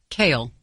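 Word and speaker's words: Cael: Pronounce. Kale.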